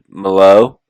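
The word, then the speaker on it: Malott: And then Mike Mallow, yeah, that's how it's said.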